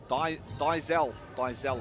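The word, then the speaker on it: Diezel: Diesel, I reckon that's how you say it. D-I-E-Z-E-L, Diesel.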